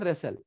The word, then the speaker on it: wrestle: कुश्ती कर रहे हैं, इसको इंग्लिश में बोलते हैं रेसल, बट इसकी स्पेलिंग W से है, WRESTLE। चूंकि W के साथ R आया है, इसलिए हम W को साइलेंट कर देंगे और R से बोलेंगे।